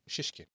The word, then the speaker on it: Shishkin: People, go check out Alexi Shishkin's uh I hope I'm saying your name right. Right. Shishkin. Yeah. Yeah, it's correct. Yeah. Cool. Yeah. Um, just just as it's spelled.